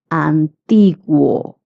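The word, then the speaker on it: antiguo: Guo is pronounced as gu. Antigu.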